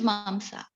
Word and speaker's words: Mamsa: Pronunciation is Mamsa.